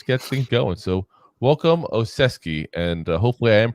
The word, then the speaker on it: Olszewski: So welcome, Olszewski, and hopefully I am pronouncing that right. But like I said, that's what I've heard multiple people pronounce it as. It's literally Olszewski.